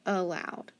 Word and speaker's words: allowed: that a loud no remember it's going to make that silly schwa sound a loud allowed all right so we had large cabin graphing allowed and we're actually going to skip number 25.